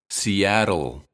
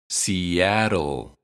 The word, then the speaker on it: Seattle: considered a vowel and the syllable T is unstressed we pronounce the T as R and say R Seattle Seattle Betty lives in the